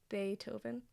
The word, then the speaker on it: Beethoven: It says B A Y um bullet t O W V N. So, Beethoven, don't say it like that to me.